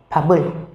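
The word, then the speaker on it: 밥을: Vậy thì muốn nói từ cơm, ngay sau đó các bạn phải thêm trợ từ vào, đó là trợ từ ul, và chúng ta đọc thành papul.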